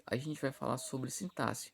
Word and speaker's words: sintaxe: vamos lá primeiramente pessoal eu já vi algumas algumas pessoas é pronunciando a palavra sintaxe da seguinte forma sintáxi não era isso não existe está incorreto a forma correta de se pronunciar é sintaxe sintaxe ok é meio estranho mas essa forma correta olha só a definição